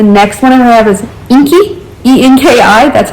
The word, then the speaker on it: Enki: The next one I have is Enki, E-N-K-I, that's how I'm pronouncing it.